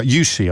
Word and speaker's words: Jussi: Um Jesse, thank you. Uh Jussi, I've said your name wrong throughout the course of that conversation for which I apologize.